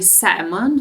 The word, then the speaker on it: salmon: if they have any salmon salmon be careful with pronunciation because l l is not pronounced so we should say salmon not salmon salmon salmon